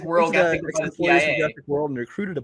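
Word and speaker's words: Sy: And Omar, I believe it's pronounced C. But Omar C.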